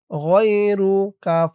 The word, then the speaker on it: غيرك: গইন ইয়া জবর গই, র পেশ রু, গয়রু। কাফ জবর কা, গয়রুকা। যেহেতু এখানেই শেষ, এরপরে আর শব্দ নেই, তাই এখানে উচ্চারণ হবে গয়রুক। গয়রুক ওয়াকফ করার কারণে কাফের উপরে জবরটা সাকিন হয়ে গেছে।